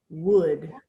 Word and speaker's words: would: there's a u but we do not hear those it just sounds like wood would okay similar to